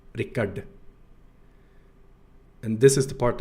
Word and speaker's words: Rickard: But also, if they do say my name, some people go with Ricardo, and normally it's Ricard, because they don't have this retroflex consonant here, right? So in Bulgaria it becomes Ricard, because you just pronounce all of the letters instead, right? Nothing magical is happening. But of course Swedish is not like that.